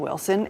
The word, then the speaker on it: Wilson: Well, she says there's no T in Wilson. It was always Wilson, and then I left to live in Raleigh. I've moved back to Wilson. Folks are just adding the T for fun.